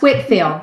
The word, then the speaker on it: Whitefield: your dissertation on George Whitefield yes and it's pronounced Whitfield that spelled Whitefield yes many years ago